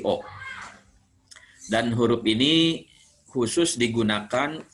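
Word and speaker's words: を: Ini dibacanya nanti bukan wo tapi o.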